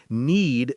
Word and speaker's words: knead: Need sounds like need, but with a silent K.